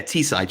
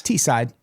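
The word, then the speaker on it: Teesside: Norman B. T-side, is that how you pronounce that? Yeah, T-side. Yes, T-side.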